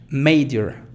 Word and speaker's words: major: Como en este caso aquí se pronuncia fuerte may. Fíjate, major, major, major.